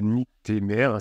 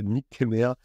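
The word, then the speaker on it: nycthémère: ce qu'on appelle le la nict mer c'est pas la niqueé mer alors je vous le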